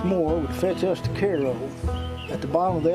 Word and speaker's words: Cairo: towns are named after Egypt which would be Caro which not pronounced Cairo ask anybody it's Koo early of course early